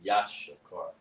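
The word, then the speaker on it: יששכר: Issachar pronounced is Ya, Sha, Car. It's more spelt. There's more to spelling it than that, but that's how you pronounce it. Is Yashakar.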